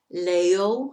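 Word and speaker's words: leyó: read, leíste, you read, leo, and that changes to a Y. When we make the third person in the preterite, it's L-E-Y-O with an accent on the O.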